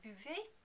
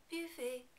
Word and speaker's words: buvez: Remember, in the vous form, the final EZ is pronounced like A. Vous buvez. Vous buvez.